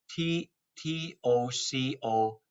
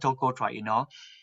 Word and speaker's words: tocotrienol: You want tocotrienol, and the tocotrienol is spelled like this: TOCOTRIENOL, tocotrienol. If you type my name, it will be all over the map. I'll give Okay. you enough link to go for it. You want tocotrienol.